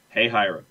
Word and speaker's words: Hahira: It is pronounced in Hey, Hira as Hey, Hira. Uh-huh. That might not actually be the right way to pronounce it. Well, I was going to say, here in the state of Georgia, Hey Hira is Hey Hira.